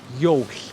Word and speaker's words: jól: And then jól.